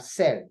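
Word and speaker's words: celles: You see that I didn't pronounce the S, we don't pronounce the last consonant in French.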